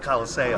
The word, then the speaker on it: Coliseo: Have you ever had pizza at Colosio? Colosio Pizza in Port Jefferson? Oh, I grew up in Port Jeff. We put the emphasis on a different syllable. We called it Coliseo.